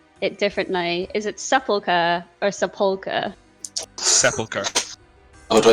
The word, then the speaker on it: Sepulchre: Sepulchre? Sepulchre, okay. Sepulchre. yeah, it's different emphasis, isn't it?